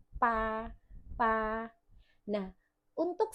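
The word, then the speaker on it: 八: Nah, untuk 8, pa pakai B, nadanya 1. Nah, karena pa B, jadi bacanya P tanpa udara, nadanya 1.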